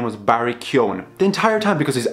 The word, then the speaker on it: Keoghan: I kind of thought there would be like a little bit of an accent towards the end of his name, but no, his name is Barry Keoghan. I think that's how you say it.